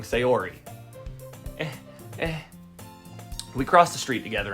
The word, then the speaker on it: Sayori: to whatever you say samori why do why do I keep saying her name wrong sayori we cross the street